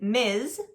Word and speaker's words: Ms: if you are not sure now be careful with the difference between miss and Ms when you are pronouncing these words because they do sound similar the only sound that is different is the sound at the end in MS the S at the end makes the Z sound like a Z